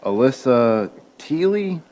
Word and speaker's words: Alyssa Teely: Oh, It's currently Alyssa Teely, I believe is how you say it. that would be the correct pronunciation.